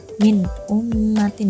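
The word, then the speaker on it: مِنْ أُمَّةٍ: Min ummatin dibacanya jelas ya. Kenapa di sini bisa disebut izhar? Karena ada nun mati bertemu dengan hamzah. Ya jelas karena hamzah itu merupakan salah satu dari huruf izhar.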